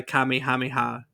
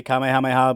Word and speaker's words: Kamehameha: really influenced by the Kami hamiha isn't that how how you say it uh I mean they say Kamehameha but it's the Kamehameha is it the Kamehameha okay yeah after King Kamehameha makes sense it's been a long